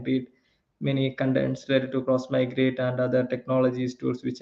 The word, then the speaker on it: Xmigrate: it is always like it is pronounced cross migrate instead of x migrate so cross migrate it's